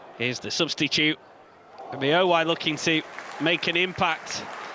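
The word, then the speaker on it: Ebiowei: Reliably informed, it's Ebiowai.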